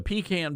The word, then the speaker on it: pecan: Now, if you come at me with a pecan pie or a peacon pie, I'm going to turn you away because it's a pecan pie. That is the correct pronunciation. Pecan.